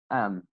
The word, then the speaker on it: them: You see, them will be am.